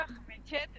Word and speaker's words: Ajmechet: el mundo, así que yo lo pronuncio como se escribe, pero a libre interpretación.